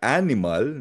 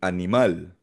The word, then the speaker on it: animal: Hindi siya animal na parang sa English kundi animal. Parang tagalog eh no? Pero animal kasi nga nagtatapos sa letter L, consonant.